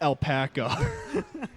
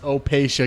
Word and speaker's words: Opacia: a shirt that says it's pronounced Opacia, goddammit. It's the phonetic pronunciation of our name, just so no one gets it wrong.